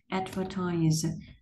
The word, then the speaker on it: advertise: advertise. Từ advertise này thì nó sẽ nhấn vần một.